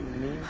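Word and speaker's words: Niamh: So it's pronounced Neve.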